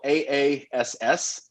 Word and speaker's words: Aass: And as much as probably my favorite beer to say was the Aass, spelled AASS, but pronounced Aass.